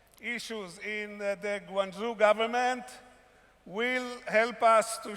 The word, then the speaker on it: Guangzhou: Guangzhou is in the Chinese pronunciation, Pinyin, Mandarin Chinese. Before I go to the story of Guangzhou, I'd like to have you, enjoy the video.